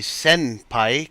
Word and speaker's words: senpai: official Japanese would be senpai, kind of like jinbe, so it sounds like you're saying senpai, but it actually is sen, like a sinner, not a simmer.